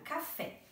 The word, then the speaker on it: café: prof colocou no quadro, café. A palavra café tem acento. Então, a gente já sabe que a sílaba tônica dela é a sílaba fé. Café. É a mais forte.